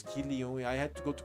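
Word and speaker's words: Kilju: So, Marata couldn't buy the kill you. Is this the way to write kill you? K I L J U. Right. That nobody taught me the pronunciation was Kio.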